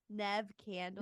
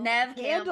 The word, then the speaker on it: Neve Campbell: Neve Campbell. Neve Campbell.